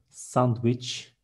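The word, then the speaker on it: sandviç: Next one, sandwich is almost the same, sandwich. We don't have letter W in Turkish. There is V, and we see Ç in the end, and it is sandwich.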